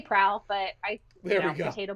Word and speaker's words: PRAL: it's an abbreviation. So I say prowl, but There we go.